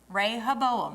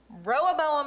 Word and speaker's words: Rehoboam: Don't mix them up. Rehoboam, Jeroboam. Rehoboam, I said it wrong the first time. Rehoboam and Jeroboam.